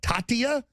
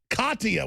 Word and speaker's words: Katia: then we've got what Tatia out in the Western Caribbean spinning around Tatia Tatia I can't pronounce anything right had he said Katia with a que thank you I don't